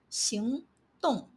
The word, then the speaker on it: 行动: For example, 行动. But when it appears in professions, industries, and roles, you have to pronounce it as 行.